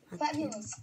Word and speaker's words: fabulous: Fabulous diye okunuyor.